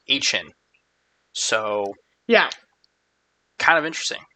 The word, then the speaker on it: Etienne: Now, I thought his last name was pronounced Etienne, but he just did a interview that is him pronouncing his name, and it's more like Etienne.